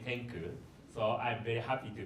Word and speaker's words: Xcoo: So tenku indicates the Xcoo is the company name. X indicates number 10, so that's why the Xcoo pronounce it as a tenku.